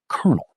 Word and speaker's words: colonel: It sounds like kernel, the word for a seed.